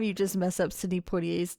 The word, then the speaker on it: Poitier: Every time you just mess up Sydney Portier's name. Yeah, I'm going to continue messing up. How do you say it? Portier.